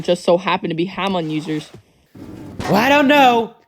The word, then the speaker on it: Hamon: Well, the co-pilot said he's gonna use Hamoon or something to keep the plane safe. Whatever he meant by that. It's pronounced Hamon, Misty.